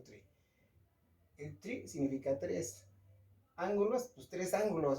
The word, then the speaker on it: ángulo: Ángulo se le pone acento en la A porque esa palabra es esdrújula, ¿ok?